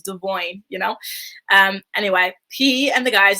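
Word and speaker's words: Devoin: Anyway, speaking of Devon, it's actually Devoyne. And it's just so wild to me that he's suddenly like, pronouncing his name correctly after all these years. We've been used to calling him Devon all this time. Now all of a sudden he's like, oh, Devoyne. And his name has always been Devoyne.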